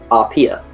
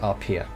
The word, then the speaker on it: Arpia: Pronounced, as far as Dan's instructions say, Arpia. Yes. Like Arpia. Pronounced Arpia.